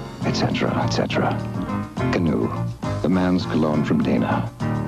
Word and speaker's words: Canoe: It's spelled C. Come on over. A. Alone. N. Now. O. Okay. E. Etc., etc. Canoe.